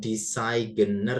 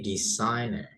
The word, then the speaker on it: designer: Di situ ada huruf G enggak usah dibaca ya, Guys. Jadi bukan designer gitu, bukan. ya, now tapi designer.